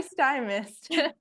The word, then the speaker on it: Stymiest: you say you're so it's sty like an iy yes sty and then Mist sty sty mist from caked with